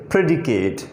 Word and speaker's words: predicate: इनको हम प्रोनाउंस यूँ करेंगे प्रेडिकेट, नॉट प्रेडिकेट, प्रेडिकेट।